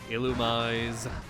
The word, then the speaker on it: Illumise: Illumise Illumize Illumize I think Pokémon fans need to start accepting that sometimes the official pronunciation of a Pokémon name is wrong. Illumize is stupid.